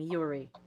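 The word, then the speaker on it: Joeri: very weirdly because it he's dutch so it's like j-o-e-r-i and people are like what is his name what is jewelry yeah but it's it's just yuri you're right yeah he's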